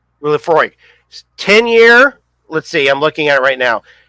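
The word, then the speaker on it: Laphroaig: I cannot pronounce it. It's Laphroi. Lafroy. Lafroy.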